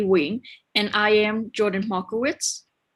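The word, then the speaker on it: Nguyen: Wing, N-G-U-Y-E-N. And it's pronounced Win.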